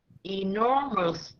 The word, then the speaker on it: enormous: how it will go e nor again capital r because there's a stress in the r and then mus this is how you read it nor must can you say that enormous very good very good